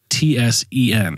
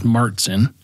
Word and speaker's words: Märzen: It is MARE Mertsen is the correct pronunciation. Martzen? Mertsen. However, in the United States, it's often pronounced as Martzen with a hard T sound.